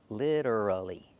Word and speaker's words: literally: But, remember the pronunciation, literally.